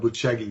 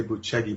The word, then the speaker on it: Bucegi: Well, the claims are that in the mountains of Bucegi, it's spelled Bucegi, we'd say Bucegi, but they say Bucegi, and that's in sort of on the border.